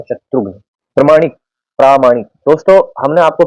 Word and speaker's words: शत्रुघ्न: शत्रुघ्न सिन्हा का आपने नाम सुना होगा, बॉलीवुड के एक्टर है, तो उनका सही जो उच्चारण है वो शत्रुघ्न होता है, शत्रुघ्न।